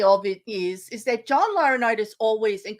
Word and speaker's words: Laurinaitis: Laurinaitis. Laurinaitis, okay. Yeah. Which he was big in talent. He's big, and the thing about bringing John Laurinaitis into it, the irony of it is that John Laurinaitis always, and correct me if I'm wrong, Jeff,